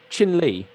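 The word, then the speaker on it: Chin Lee: Try not to mispronounce it. You know what I mean? Yeah, that's gonna annoy me now. Is it Ping Li? No, it's like Fu Peng is Chin Li.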